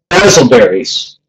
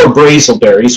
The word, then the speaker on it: BrazelBerries: So, basilberries, or brazelberries, which is really the proper pronunciation.